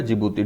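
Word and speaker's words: Djibouti: ईडी में क्या है, इरिट्रिया जिबूती, ठीक है, इरिट्रिया जिबूती। डी साइलेंट रहता है जिबूती में, जिबूती, ठीक।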